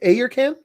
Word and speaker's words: Ayurcann: from uh it's it's it's pronounced a your can i okay eric and